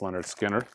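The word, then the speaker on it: Lynyrd Skynyrd: believe is a restock from Music On Vinyl Leonard Skinner it's pronounced Leonard Skinner Japanese uh Sony title I showed you guys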